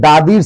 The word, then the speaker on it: the: খুব সহজ একটি সূত্র সেটা হচ্ছে দাদির সিবি কনসোনেন্ট দা ভাওয়েল দি অর্থাৎ কোন শব্দের প্রথমে যদি ভাওয়েল থাকে তার আগের উচ্চারণটা হবে দি কোন শব্দের প্রথম অক্ষরটি